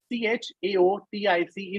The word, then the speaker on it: chaotic: OWN is own, and CHAOTIC is chaotic. I don't know how you pronounce, but when I heard it was pretty different.